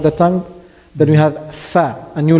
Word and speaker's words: ف: Then we have Fa, a new letter. Fa is pronounced from Fa, The lips.